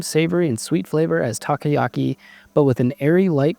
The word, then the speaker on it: takoyaki: Each bite has the same savory and sweet flavor as takoyaki, but with an airy, light, crispy texture. Oh, it also gives you the pronunciation takoyaki, so I'm actually not terrible.